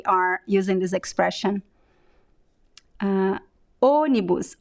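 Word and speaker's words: ônibus: using this expression uh onibus onibus here we have it's uh it's closed but it's also nasal onibus okay so let's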